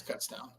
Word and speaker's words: Kutztown: We would say Coots as a joke, but no, it's Kutztown.